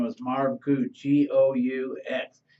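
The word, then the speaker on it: Goux: His name was Marv Gou, G-O-U-X. It's a French name, so but pronounced Gou, and he was known as the Intimidator.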